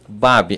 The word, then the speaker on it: Baby: Já foi Baby, Babi e Babi, né? Quando criança, o papai e a mamãe ensinaram que era Babi.